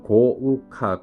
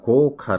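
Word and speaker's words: 豪華: 일본어 발음 은 고우카 입니다 . 고우카 라 고 발음 합니다 .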